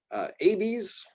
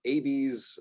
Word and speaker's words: Abies: So abies, hard, long A sound.